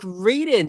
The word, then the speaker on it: Raiden: It's like Raiden, just like the Mortal Kombat character.